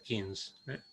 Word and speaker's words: Keynes: Le decimos Keynes, pero en realidad en inglés se pronuncia Keynes, cosa que nos resulta medio extraño a nuestro modo de pronunciarlo.